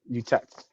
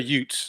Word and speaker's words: Utes: The Jets, the Utets. I think it's how you say it. The UTEPs. Yep. Utets, yeah, Utets. Minus Um. 2. Well, they're the Utes, so we'll just keep it Utes.